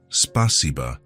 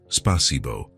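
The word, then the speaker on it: спасибо: It's spaca, not spasibbo, he explained. The a is softer.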